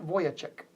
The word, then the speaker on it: Vujicic: his name was Nick Vujicic. Nick Vujicic. And by the way, if you want the spelling of that, it's Nick, N-I-C-K, V-U-J-I-C-I-C. It doesn't sound like at all what it's spelled.